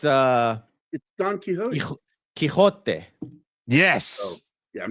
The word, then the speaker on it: Quixote: It's Don Quixote.